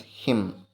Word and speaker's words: hymn: a hymn of praise so Hyman is silent letter we have to pronounce it as him of a praise written